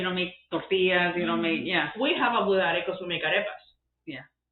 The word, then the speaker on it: budare: You don't make We have a budare because we make arepas. Yeah. You know what I'm saying? How do you say it again? Arepas. No, I know. I'm sorry. Budare. Budare. Budare. Burrane.